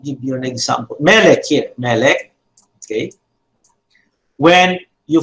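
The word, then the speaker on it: מֶלֶךְ: So the segulate noun is characterized by pronouncing the accent on the first syllable.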